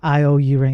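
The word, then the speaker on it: io_uring: No, that's how you say it, Charlie. Yeah, IO-Uring, yeah, that's how I say it, yes.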